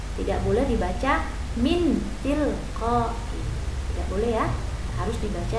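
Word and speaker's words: مِنْ تِلْقَاءِ: Harus dibaca berdengung dengan mendekati bunyi n, lalu suara ditahan 2 ketukan. Contoh, min tilqai. Nun mati bertemu dengan ta, dibaca samar dan berdengung. Min tilqai.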